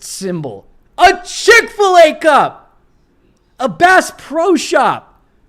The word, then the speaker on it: Bass Pro: lives matter sticker a brass pro hat she doesn't even say it right it's bass pro and these people are